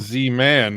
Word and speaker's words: Zman: it's Z man, not Z boy. I got it. That's right. I got to. I have to. I heard it was just pronounced Zman.